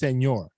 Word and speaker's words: Senghor: So just to make sure, your last name is pronounced Senghor. Senghor. Yeah. Senghor.